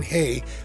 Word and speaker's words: Rei: wondering in Brazil they pronounce the r in hey like we pronounce the h in hotel selfies so the